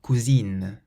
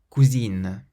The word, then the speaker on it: cousine: So the first one has a nasal sound, cousin, meaning cousin, and the second one doesn't have a nasal sound, cousine, which means cousin, but it's a female cousin. Cousin, cousine.